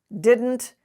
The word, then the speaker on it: didn't: words like student harden didn't these are words in which the d and the n are are pronounced together there's no vowel in between in standard american english we do not say